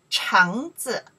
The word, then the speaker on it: 橙子: 橙, 橙子, 橙子, your turn, 橙子, 橙子, 吃, 嗯, second tone, 嗯, 橙子, 橙子, 橙子, 橙子, 橙子, let me see next.